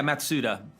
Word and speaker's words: Matsuda: Matsuda, have I got that pronunciation right? Yeah, Matsuda.